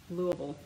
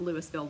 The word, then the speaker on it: Louisville: So, yeah, and I know I know how to pronounce it correctly. It's Louisville. It's not Louisville, Louisville. Anyway, and, oh, Sherry is getting her step goal in while she's watching this evening.